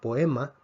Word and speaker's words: poema: hoy forma un diptongo la respuesta es no no forma un diptongo porque son dos vocales abiertas entonces vemos que tenemos tres núcleos a la a le damos la m como ataque a la o le damos una p como ataque la e no tiene ataque y vemos entonces que la palabra poema tendría tres sílabas o qué aquí tenemos